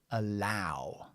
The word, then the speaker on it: allow: o or it's Al in this case it's ow so this is here allow allow allow okay so allow is actually